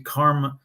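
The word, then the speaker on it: Carma: were denied according to karma karma someone name is karma like as in as in do it as in what goes around comes around kind of karma dis spelled with a c instead oh so karma Johnson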